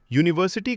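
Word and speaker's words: university: यूनिवर्सिटी का sound यूनिवर्सिटी से start होता है, इसलिए सही अ यूनिवर्सिटी, गलत एन यूनिवर्सिटी।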